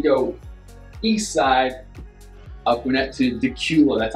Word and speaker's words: Dacula: well next we go east side aquinet to Dacula that's how this is pronounced not daculate the cule so Dacula is coming in here